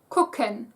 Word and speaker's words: gucken: Originally in writing, only the version with a G at the beginning was accepted, but since when most people pronounce it, it sounds like a K anyway, writing it with a K is okay by now as well.